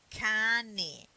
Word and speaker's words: cane: Let's look at this word, cane. See, you pronunciate ka because the a is a strong vowel. Here it is. A is strong. That's why you say ka.